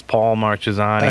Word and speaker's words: Paul Marchesani: Honestly, I say my name sounds like a sandwich. It's Paul Marchesani. A sandwich. Like, yeah, let me get the Paul Mark on rye.